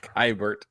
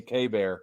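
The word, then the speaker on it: Keibert: Kybert. Oh, that last week I said Kybert, and we know Brad corrected me K-Bear, and I was like, what? That's how it's spelled, okay?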